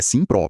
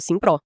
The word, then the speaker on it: SIMM.PRO: E só pra lembrar, a pronúncia é Simpro, pessoal. Isso, Simpro.